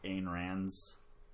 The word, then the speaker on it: Ayn Rand: Specifically, Ayn Rand's writings.